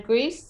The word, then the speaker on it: Grease: How do you say your last name? Grease? Grease, yes. Grease.